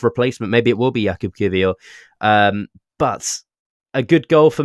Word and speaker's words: Jakub Kiwior: Go on, you say his name the proper way. I want to hear the proper Polish way. Jakub Kiwior.